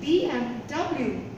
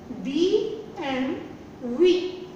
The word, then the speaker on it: BMW: And in German, they actually don't say W. To W they say V. V. So, the correct pronunciation is BMW.